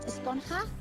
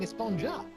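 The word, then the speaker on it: Esponja: Actually, it's pronounced Esponha with an H sound at the end. Really? But we've all been saying Espongja.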